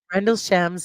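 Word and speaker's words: Rendlesham: Rendle shams is how to pronounce it.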